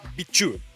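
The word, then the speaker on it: BIQU: was big tree and when you pronounce that in Chinese you actually say bichu so that's where the beu comes from and then he used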